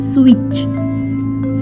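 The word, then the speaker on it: switch: T इसमें silent है, CH स्विच।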